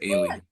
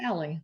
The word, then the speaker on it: Allie: Am I saying it right, Allie, or is it Ailey? No, it's Allie.